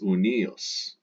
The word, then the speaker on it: uni: an ius, ius, and its dative singular ends in the letter I, pronounced e. So the genitive singular of unus is unius, and that's the genitive for the masculine, the feminine, and the neuter.